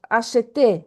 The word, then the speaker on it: acheté: So it's pronounced acheté. You see here the accent, the accent.